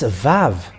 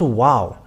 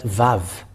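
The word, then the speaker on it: וו: put it with red it's VAV V A and V so when you see that we can see that it's VAV it's not wow but VAV that comes that where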